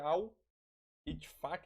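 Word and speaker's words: Al-Ettifaq: virou Alvo do EAC acho que é al efac acho que se pronuncia assim né que é o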